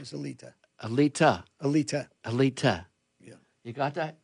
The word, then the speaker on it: Alite: grew up, everybody said a because they couldn't pronounce it in school. So, I gave up. And then I started saying a light. Everybody started saying a even my family said it. And then it went to elite because we just got rid of the the